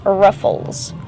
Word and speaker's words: ruffles: Use the short sound like cup and up for the first syllable. Rough. Ruffles. Then a short sound for the second syllable.